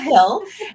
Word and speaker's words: Hille: This week, I'd like to introduce Kristal Hille. And actually, I forgot to ask you, do you actually pronounce the E at the end? No, you don't. It's just So Kristal just Hill. So Yeah, Kristal Hille, and we will chat about author archetypes.